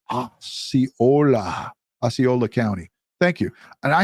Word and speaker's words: Osceola: It's pronounced Osceola County. Thank you. And I have it written down. I have it written out just like that. And I still say it the wrong way. So, Osceola.